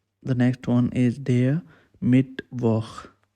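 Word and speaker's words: Mittwoch: next one is dear mid woh you have to pronounce same like i'm pronouncing their mid work it's mean wednesday they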